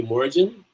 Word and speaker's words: Morrigan: Morrigan wouldn't have a hard G. Would it be Morrigan?